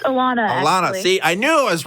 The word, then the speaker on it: Allanna: go to I want to say this is pronounced in New York can you hear us yes I can hear you great how's it going it's a Lana Lana see I knew is wrong but thank